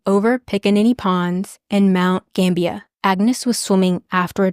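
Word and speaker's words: Gambier: or something like that I just mispronounce Gambia as gambir the entire episode because that's how it's spelled so hopefully I'm saying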